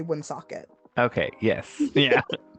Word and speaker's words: Woonsocket: school out there I have said wound socket all my life but Rhode Islanders say win socket okay yes yeah it's